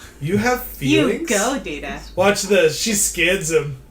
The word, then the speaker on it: Data: It is pronounced Data. Oh? This is where Don't be Pulaski's racist. kind of like old school racist, but she doesn't mean to be. One is my name. The other is not.